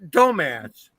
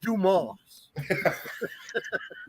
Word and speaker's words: Dumas: now that's the moss not dumbass the name is pronounced dumas oh jesus our